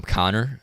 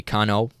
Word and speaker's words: Connor: a good thing okay I'm Connor probably used to be Cano Cano yeah it's me Cano